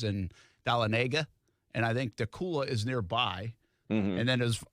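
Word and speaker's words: Dacula: that town in georgia is it dakota or dakula the cooler the cooler it's funny i just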